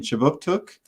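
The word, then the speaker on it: K'jipuktuk: But before we begin, I'd like to acknowledge that Right Start Newcomer Services conducts business in Chibuktuk, which is how you say Halifax in the Mi'kmaq language.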